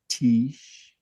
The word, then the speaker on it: Tisch: And they're Gen Z, and they are a recent graduate of Tisch. Is it Thank you, thank you for pronouncing it correctly.